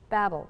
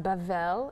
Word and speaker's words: Babel: one land um babel babel pronounced bavel in hebrew is babylon the tower in